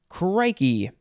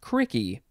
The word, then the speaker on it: crikey: c in the middle crikey uh you could also say well that second s uh spelling would be pronounced cricky crikey and cricky this is an interjection